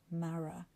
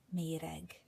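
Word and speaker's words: Marah: of it was called Mara. It's not Mara. It's not Mara. It's Mer.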